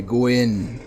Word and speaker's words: Gwyn: embrace the original sin started by Gwyn whose name rhymes with sin now now that I